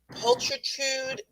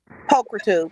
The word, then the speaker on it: pulchritude: I believe it is pronounced Pulatrude Diva. Pulchritude.